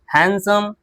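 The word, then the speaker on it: handsome: तो bridge, sandwich, Wednesday, हैंडसम। बात समझ में आ गई? यहां पर क्या होता है? डी साइलेंट होता है।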